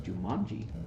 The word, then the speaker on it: Jumanji: what you're saying jumanji how do you say that like there's a u it's jumanji kimanji jimanji it's jumanji jumanji i say words